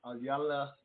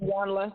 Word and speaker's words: Iyanla: hear a cut from Anyala. I don't know how to say her name, so help me out with that. How is it? How you say it? Iyanla, that's correct.